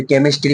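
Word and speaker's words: chemistry: যেরকম এটা সিএইচ ই এম আই এসটি আর কেমিস্ট্রি হয় এটা কেমিস্ট্রি না এটার জন্য খাটনিও কিন্তু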